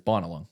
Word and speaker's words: Binalong: Either way, like there was a couple of guys calling it Binalong, and I thought they were taking the piss at first because I'm like Binalong. It's like it's right it rolls better. Like it's Anyway, and then I sort of corrected. I'm like, like the locals call it's Binalong.